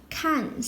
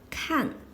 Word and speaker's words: 看: now let's get started can't this is a poly foam is pronounced as can or can according to different context as can a means